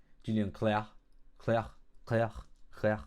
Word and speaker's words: Julien Clerc: His name is pronounced like the word Claire, which means light. Julian Claire.